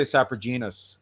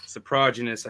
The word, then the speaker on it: Soprogenous: I say Saprogenous. That's what I say. Soprogenous, I think, is the proper, the way they say it.